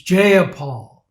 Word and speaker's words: Jayapal: interrupts her to say if you're going to say my name say it right it's jeopard names matter so here's